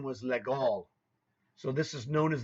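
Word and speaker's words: Légal: called the you know an American would say that's the legal mate well actually legal is not the correct way to pronounce it that was a French man's name his name was legal so this is known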